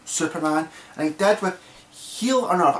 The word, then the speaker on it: H'el: And he did with Heal on Earth. I'm calling it Heal on Earth, not Hell on Earth, because there's no an extra L there.